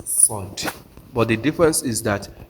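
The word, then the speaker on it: صاد: pronounce sin is how you are going to pronounce sod but the difference is that you are going to make sure you close your mouth with the pronunciation of sword.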